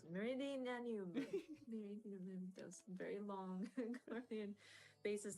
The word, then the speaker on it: Meridianum: And then of course, the Praetorium and the Castrum Meridian, sorry, I can't pronounce it. Meridianum.